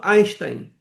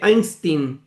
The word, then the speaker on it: Einstein: o meu nome é Einstein." Eh, porque nos Estados Unidos o e I faz o som do I.